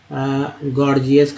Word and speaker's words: gorgeous: अब एक वर्ड और ले लेते हैं गॉर्जियस का, GORGEOUS, पहला जी ग और दूसरा जी जो है ज के रूप में उच्चारण हुआ, गॉर्जियस का, है ना।